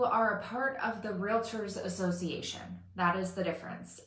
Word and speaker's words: Realtor: time all the time it's real tour like real r-e-a-l-t-o-r realtor like doctor okay there's no i in there anywhere it's not relator or